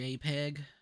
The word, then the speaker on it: JPEG: It's not a Oh, that's JPG cool. background like the previous map. Never call it JPG again. It's a JPEG.